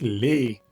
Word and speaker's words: les: Aquí sí decimos les, porque la S, o más bien la E, no es la última de la palabra. Entonces vamos a pronunciar bien esa E como en español.